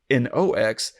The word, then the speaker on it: Knox: And it's spelled Knox. But of course, Knox, Nox, is Latin for night.